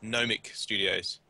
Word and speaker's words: Nomic Studios: Um, just quickly correct your pronunciation. We're called um Nomic Studios.